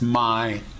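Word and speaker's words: ใหม่: This one's name is Mai, a monosyllable which, when pronounced with a long vowel in the low tone, means new.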